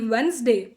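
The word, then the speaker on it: Wednesday: ಕಾರಣಕ್ಕೆ island Iceland ಶಬ್ದ island ಅಂತ ಹೇಳಿ ನಾವು ಉಚ್ಚಾರ ಮಾಡ್ತೀವಿ ಓಕೆ ನಾ ಅದೇ ತರ ಏನಾಗುತ್ತೆ ಈ ವೆನ್ಸ್ ಡೇ ಒರಿಜಿನಲ್ ಆಗಿ ಬಂದು ದೇವರ ಹೆಸರು ವಾರ್ಡನ್ ಡೇ ವಾರ್ಡನ್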